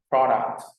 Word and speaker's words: product: not product okay so the stress is in the first syllable so I would like you to repeat after me products products product all right very good now let's